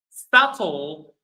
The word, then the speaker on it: subtle: yes so again so these four words all of them they have a B and all of them or in all of them the B is not pronounced the B is silent.